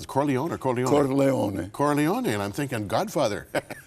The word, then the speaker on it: Corleone: You're not only from Sicily, but you're from, how do you pronounce it? Corleone or Corleone? Corleone.